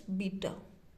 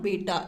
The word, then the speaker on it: beta: This is known as, how we pronunciate it, like alpha, and this is known as beta. Not beta, it's beta.